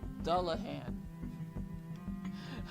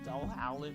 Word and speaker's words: dullahan: the books grandpa left dullahan i remember saying it wrong like i read something else i don't know what the hell i call them doll howling or something like this a fairy with the